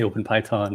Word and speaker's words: OpenPiton: Yeah, we get a lot of people who say OpenPiton or come up with other pronunciations, but yeah, it's named after the piece of climbing equipment, the Piton.